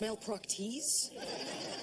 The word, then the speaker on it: Malpractice: malpractice is above me it's pronounced Mal proes though he does leave